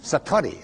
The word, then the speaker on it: Satori: but it's called Satori I'd love to say that Satori SAT Ori and it means instant